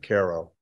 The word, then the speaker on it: Cairo: They pronounce it Cairo, but it's all mound building.